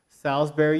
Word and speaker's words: Salisbury: that a college campus Salisbury University I'm pronouncing it like the steak not how it's spelled and I believe that